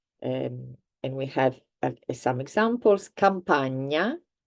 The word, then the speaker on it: Campagna: Spanish, for example, you've heard this sound in Spanish, which is the N with the little hat on top. So this is ñ. And we have some examples. Campagna, ogni, Spagna.